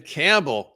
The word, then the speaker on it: Campbell: you gotta kick it Campbell rhymes with gamble this game needed a